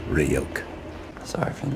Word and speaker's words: Ryuk: It's pronounced Ryuk.